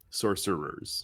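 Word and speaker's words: sorcerer's: the source servers stone e after the c so it's a soft c sorcery stun sorcerers so yeah and technically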